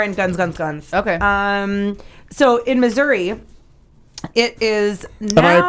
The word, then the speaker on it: Missouri: So in Missouri, it is now.